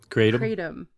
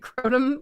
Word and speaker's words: kratom: It's like crotum. I don't know, but it is kratom. Kratom is the way it's supposed to be pronounced.